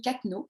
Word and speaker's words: Cattenoz: Anne-Camille, c'est Anne-Camille Cattenaud. J'ai appris comment prononcer.